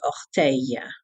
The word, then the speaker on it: orteil: Now, there's also another word for doigt de pied, and that is orteil. Orteil. O-R-T-E-I-L-S. Orteil.